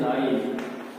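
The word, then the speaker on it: live: तो इसे पढ़ते हैं लाइव, लाइव टेलीकास्ट। तो देखिए, स्पेलिंग सेम है लेकिन प्रोनाउंसिएशन क्या है? दो है, लिव एंड लाइव।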